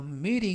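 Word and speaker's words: meeting: 뜻이 되겠구요 아 떠 미리 잉 모임에서 이때 및 잉 하면 모인 발음할 때 미팅이 아니라 미리 미리 이라고 부드럽게 바람 하시면 더 좋겠습니다 즉 전체 적의 면은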